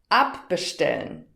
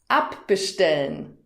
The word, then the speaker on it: abbestellen: Das hat auch etwas mit der Betonung zu tun und damit komme ich zur dritten Kategorie. Hör nochmal. Hinzufügen. Abbestellen. Hörst du die Betonung? Hinzufügen. Abbestellen.